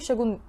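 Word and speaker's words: Șaguna: kıyı şehri orada Andre saguna Üniversitesi'nde Bu arada yanlış söylemedim Andre saguna di yazıyor Andre shagun gibi bir şey bir şekilde okunuyor o yüzden yanlış söylemedim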